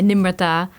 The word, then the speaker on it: Nimarta: My name, Nimarta, pronounced in the Punjabi way, Nimarta, actually means humble.